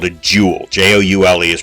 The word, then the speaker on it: joule: Joule is pronounced joule, and its abbreviation is a capital J.